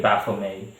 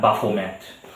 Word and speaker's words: Baphomet: title of this video baffle me or baffle met the t is generally speaking silence so i'm going to stick with bafflemaid uh i'm used to pronouncing it more flat buffomet um so in any